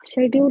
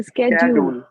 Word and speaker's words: schedule: शेड्यूल नहीं है, स्कै, स्कै बोलिए से स्केड्यूल। स्केड्यूल, दूल नहीं, ड्यूल।